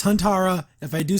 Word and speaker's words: Huntara: apologize in the past I was calling her hundra it's actually Han Tara I don't know I was messing up my vocabulary there but up its hon Tara if I do say